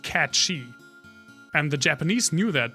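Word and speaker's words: Cait Sith: in the west that thought this name was pronounced Kate Sith but it is of like gelic origin or like or definitely Celtic origin and it's pronounced cat shei and the Japanese knew that because it's um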